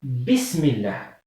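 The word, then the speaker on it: بسم الله: Et ça, hamzat al-wasl, on ne la prononce pas quand le mot est précédé par quelque chose d'autre. Par exemple, ism, comme ça. Là, c'est hamzat wasl. Je dis bismillah.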